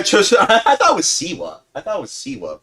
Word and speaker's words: Siwa: narcissist like Jojo Saiwa. Yeah, just I thought it was Siwa.